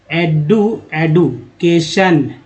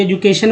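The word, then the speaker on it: education: शिक्षा या शिक्षण, एडुकेशन, जो कि एजुकेशन बोलते हैं। तो एक्चुअली जो एक्यूरेट जो उच्चारण है एडू होता है, तो एडुकेट या एडुकेशन।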